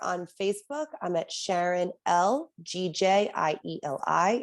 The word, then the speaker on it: Gjieli: Or on Facebook, I'm at Sharon Gjieli. It's pronounced Gjieli. It's my husband's last name and I'm proud of it. But it's very difficult to read. So it's Gjieli.